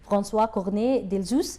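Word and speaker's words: François Cornet d'Elzius: Excellency, the ambassador of the Kingdom of Belgium is Excellency François Cornet Delzus. Thank you so much for having us today. Sarah, you pronounce the name beautifully.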